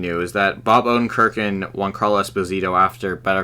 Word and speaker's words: Giancarlo: It's actually Giancarlo, dude. It's Giancarlo.